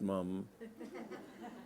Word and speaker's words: Mapledurham: a whisper decide was Lester Mapledurham pronounced mom they explored and big-game